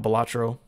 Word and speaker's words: Balatro: I looked it up how to say it. It is Balatro.